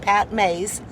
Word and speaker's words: Pat Mayse: never been here before he said it is pronounced pat mays and uh he told